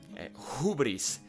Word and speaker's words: hubris: Hubris. Well, here we got the who that is pronounced with an aspirant and is who, hubris in Greek, and means insolence.